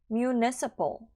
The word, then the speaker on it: municipal: 뒷부분에서 PAL 같은 경우는 pal 하시면 틀린 발음이에요. municipal 하면은 틀렸고요. municipal. PLE 정도의 발음이다 라고 생각하시고 발음해 주시면 될 것 같습니다.